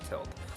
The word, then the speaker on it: Tilt: just tilt Studios now I used to call it tote because of the way people were pronouncing of us actually tilt but that's what has